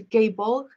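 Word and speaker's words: Gáe Bolg: use of the deadly i think it's pronounced a gay ball um a type of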